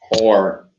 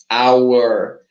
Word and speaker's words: our: I, teacher Gil, I spend so much time saying or, but it's not good to say or. The perfect way to pronounce this possessive pronoun is with this intonation. Our, like the time, yeah?